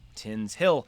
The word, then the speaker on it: Tinshill: Tinshill, pronounced Tinshill, is a district in Leeds, 4 miles north of Leeds city centre, West Yorkshire, England.